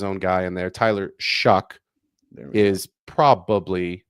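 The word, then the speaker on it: Shough: So weird because I'm I'm looking up how to say it and it's like it looks like cough or even show. The correct pronunciation is Shuck.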